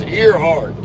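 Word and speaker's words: Earhart: Well, me and my wife ride over, she calls it Airheart, Airheart Highway down there in Louisiana. But it ain't spelled A I R. It's spelled E A R H A R T, which is not air heart. That's ear heart all day long. It has ear in the front. It has heart at the end.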